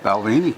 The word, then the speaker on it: Balvenie: actually that's how it's spelled and how it's pronounced okay Balvenie yeah and they they have several balvini has